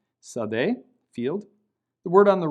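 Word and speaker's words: שָׂדֶה: So the word on the left is pronounced sadeh, sin, dalet, hey, with a hey being silent, sadeh, field.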